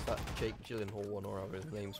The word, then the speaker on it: Gyllenhaal: It's that Jake Gyllenhaal one, or however his name's pronounced. I know it gets funny about his name, because it's not pronounced like how it's spelt, but is it Nightcrawler?